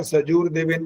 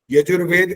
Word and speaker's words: यजुर्वेद: आपका सजूर देवेन जो बोला वो बिल्कुल ठीक बोला, और सुधीर ने ये गलत बोला था, सजूर देवेन बोला था वहां पर। छोटे ऊ की मात्रा नहीं है ज में,